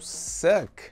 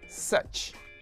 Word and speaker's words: such: Cuidado, porque se você falou suck, não. Suck é outra coisa. Suck é essa palavra aqui, ó. Tá? Ó, escrita como é diferente. A pronúncia dessa palavra aí é such.